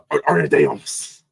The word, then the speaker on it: Ana de Armas: Yes, Ana de Armas.